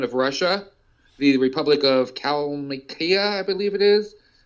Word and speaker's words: Kalmykia: Right, but I mean, there's been other people too, like the former president of Russia, the Republic of Kalmykia, I believe it is pronounced.